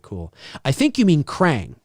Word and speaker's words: Krang: I think you mean Krang. Crank?